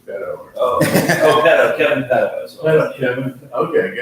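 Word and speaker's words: Pedeaux: It's really, I mean, technically, the real pronunciation is probably Pedo. Really? Like the Canadian French, pronunciation. Yeah, see, and that's the thing is that Instead of P-E-D, it's P-E-D-E-A-U-X, but you pronounce that Pedo.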